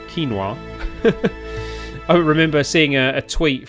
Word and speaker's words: quinoa: beer mmm tasty vegetable kanawa quinoa quinoa not kanawa quinoa I remember seeing a